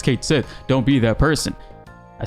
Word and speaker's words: Cait Sith: in Final Fantasy 7 rebirth Kate Smith is pronounced Kate Sith fifth here okay sip finally guys it's pronounced Kate Seth and this has a lot of traction I